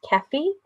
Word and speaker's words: Kefi: This is Kate, just so that you know, my name is pronounced Kefi. It Kefi, rhymes with I am so Jeffy.